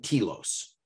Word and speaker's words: telos: organizations only have one telos, one guiding principle, core, most important thing to the institution. What word did you use? Kilos? Telos. It's Greek.